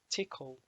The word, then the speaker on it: Tcl: two dot tcl files i believe that's short for tickle language just double check that dot tcl i remember this because it made me laugh yeah pronounce tickle but essentially it's a